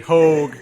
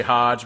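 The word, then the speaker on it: Hoge: They said Hogue on the Whiskey Riff podcast. I still say Hodge because it's spelled like Merrill Hodge from ESPN. So, and that's our name, so woo. So I say Will Hodge.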